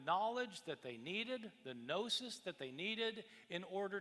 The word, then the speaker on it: gnosis: The Greek word for knowledge is gnosis, spelled with a G, G-N-O-S-I-S.